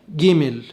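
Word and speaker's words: גימל: في العبرية مفيش جيم، مفيش حرف اسمه جيم في العبرية، فبنقول حرف جيمل. جيمل، وهو يقابل حرف الجيم في العربية لكن بينطق جيم قاهرية، جيمل.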